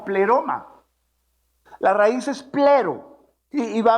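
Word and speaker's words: πλήρωμα: probablemente sí verdad pero se va a pronunciar como pleroma las raíces pero iba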